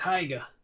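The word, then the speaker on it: Haigha: only does them when he's happy his name's heiger he pronounced it so as to rhyme with maya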